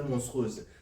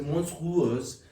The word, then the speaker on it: monstrueuse: vérifier monstrueuse monstrueuse monstruse ne c'est pas monstruse c'est monstrueuse alors c'est monstrue voilà e u e on prononce U et après ça ou c'est e quand le procureur s'est